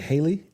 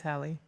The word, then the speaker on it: Halle: Is it Haley? You're saying it wrong. It's Hie. Say it. Hie. Oh, she's a Hal. Like Halle Berry.